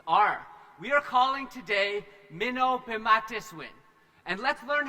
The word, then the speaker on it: Mino-pimatisiwin: We are calling today Mino-Pimatisiwin. And let's learn how to say this together. First of all, we should probably tell you what Mino-Pimatisiwin means.